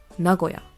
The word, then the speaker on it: Nagoya: three are all elongated the Nagoya is not elongated you just say it normally so once again Nagoya remember what I told